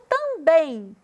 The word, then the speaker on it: também: No também, a gente faz aqui, dá uma ênfase no bem.